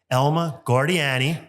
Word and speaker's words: Elma Guardiani: So Elma Guardiani.